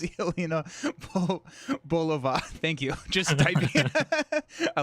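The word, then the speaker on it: Yelena Belova: Winning hand is pronounced Yelena Bolova.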